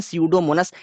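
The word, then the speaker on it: Pseudomonas: यू दोनों से basically भैया पी होता है साइलेंट इसको बोलते हैं seodo मोनस ये हमारी एक अमोनियम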